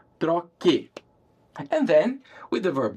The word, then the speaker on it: troque: in car, eu troco, I drop the O in order to keep that same hard C sound. I need to spell that with a Q-U in Portuguese, troque.